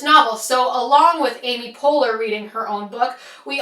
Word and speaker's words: Poehler: name, and I searched on Google how to pronounce Amy Poehler, and it came up with a YouTube video that said Poehler.